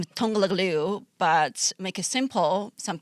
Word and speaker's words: Liu: Do you pronounce it Liu?